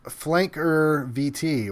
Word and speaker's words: Flankvert: We got Flankvert says, my name is pronounced Flanker VT.